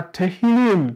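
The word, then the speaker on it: תהלים: Kwa sababu neno PMS kwa kihebrania linatamkwa kama tehim. Sawa?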